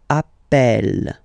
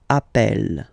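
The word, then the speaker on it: appelle: e really open that's the reason why you pronounce it Appel Appel okay Appel Appel Appel and Appel all right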